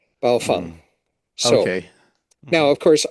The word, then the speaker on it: Baofeng: out on the Googles, you can find a recording of 4 Baofeng sales reps being asked this question at a trade show, and they go, "Okay, guys, in 3, 2, 1," and they all say it together, Baofeng.